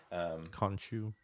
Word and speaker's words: Khonshu: head monster, who is Khonshu, how do you pronounce it? Khonshu.